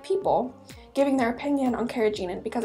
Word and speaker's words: carrageenan: and final food additive is the carrageenan I pronounced a carrageenan other people might pronounce it a little bit